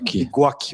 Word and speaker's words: Ligocki: trabalho com o Stefan Ligoski. Me ajuda na pronúncia. Ligoski. Eu ia botar um S, Ligoski, né? Parece japonês, mas é polonês.